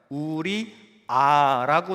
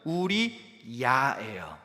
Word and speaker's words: 우리야: 우리아라고 나와 있을 거예요. 그런데 정확한 원문의 발음은 우리야예요. 야.